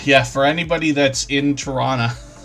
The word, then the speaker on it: Tirana: And then Tirana, yeah, for anybody that's in Tirana, we don't pronounce the hard T, if that's the way you put that.